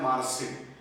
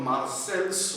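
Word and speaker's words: Marseille: Spelling के हिसाब से हम लोग मार्सेल्स बोलते हैं, मगर ऐसे बोला जाता है कि वो फ्रेंच, मुझे पता नहीं कैसी है, मगर उसमें बहुत सारे जो व्यंजन होते हैं कॉन्सोनेंट, उसका प्रोनाउंसिएशन ही नहीं होता। जैसे हम लोग बोलते हैं ट्रीटी ऑफ वर्साई, मगर उसका स्पेलिंग है वर्साइल्स, तो ऐसे कुछ तो उनका होता है। तो वो जो मार्सेल्स है, लिखते वक्त मार्सेल्स मगर बोलते वक्त मार्से, तो पोर्ट ऑफ मार्से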